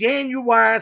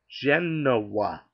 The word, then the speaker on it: Genoa: family is Italian and I know how to pronounce it as it's Janu salami and I looked at him I said no sir it's pronounced Genoa salami it's spelled Genoa salami this and dog